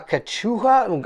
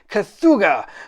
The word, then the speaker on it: Cthulhu: A Kachuha? I'm going to... Cthulhu. Okay, terrible. I totally mispronounced it.